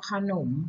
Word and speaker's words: ขนม: ว่า ขนม นะ คะ ข น อก ม ขนม ค่ะ ฉลาม นะ คะ